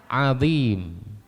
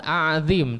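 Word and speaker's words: عظيم: ruku jadi subh rabbialzim padahal Subhana rabbiyal adzim Bukan a'zim tapi Adim Subhana rabbiyal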